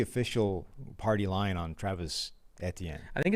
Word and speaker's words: Etienne: Like, I think he might pronounce it the way, like, the Creole version is, which is some sort of weird hybrid of, like, the two of them. So it's Etienne. Just looked it up.